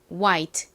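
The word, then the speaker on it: white: 트 소리 나는 t 떨어지 e 이렇게 쓰죠 발음해 볼게요 트 와이트 좋습니다 같이 들고 적어 보세요 우 소리 나는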